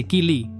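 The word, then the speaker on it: ceilidh: Um Seilida, pronuncia-se Kili, é um encontro social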